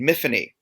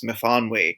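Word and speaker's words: Myfanwy: The main character in in my first book is named Miffany to rhyme with Tiffany and because that's the way the um the little girl who I used to babysit pronounced it.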